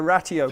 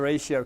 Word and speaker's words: Ratio: here know what the I think they pronounced it the ratty Oh Club not the ratio Club does anyone know what